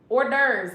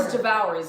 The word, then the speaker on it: hors d'oeuvres: Hors d'oeuvres. Yes. No, Brenda, you spelled it right. That's how you spell it. Hors devours if you don't know French.